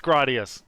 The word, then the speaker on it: Gradius: gradius gradius your thoughts it's gradius there's no there's no contest it's gradius i go by japanese phonetics when i pronounce it but uh i think the chat will back me up it's 100 gradius now is that how they